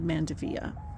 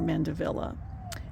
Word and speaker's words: Mandevilla: And I thought, what, in this pot I had a gorgeous red Mandevilla, or Mandevilla, as many people pronounce it, and it died in the winter.